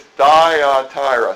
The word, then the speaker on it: Thyatira: It's Thyatira.